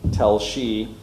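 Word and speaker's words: Telshe: the Rabbinical College of, and he pronounces it Tel Shi.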